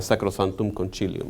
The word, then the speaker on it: sacrosanctum concilium: pero hoy en día se tiende a pronunciar con el acento italiano que sería sacrosanctum concilium porque esa es la